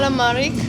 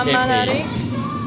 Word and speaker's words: Amalaric: So what did you say? Amalari. Okay, one time. Alamaric. No, it's A-M-A. Amalaric. A-M-A. M-A-L-A. Amalaric. Voilà.